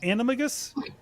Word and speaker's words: animagus: panel being unregistered snake animagus i can never pronounce that and slither um or disguise yourself as william shatner it's animagus animagus thank you oh simon wins equipment and